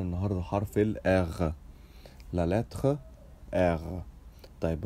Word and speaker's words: R: ومعانا النهارده حرف الاغ، لا لاتر اغ. طيب انت ممكن تنطقوا اغ وممكن تنطقوا ار، بس لو عايز تنطق زي الفرنساويين انطقوا اغ. طيب المهم ان الاثنين صح.